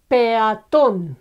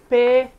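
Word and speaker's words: peatón: And I don't know, peaton is a pedestrian, peaton, okay? Pe, one syllable, a, another one, and then ton is the last one, okay?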